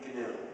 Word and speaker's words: GNU: But it still is GNU, and it will always be GNU. So please pronounce it that way.